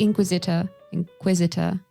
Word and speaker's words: inquisitor: But of course, it would only depend on the, on the inquisitor. Well, where's the stress in this word? Inquisitor. Second syllable.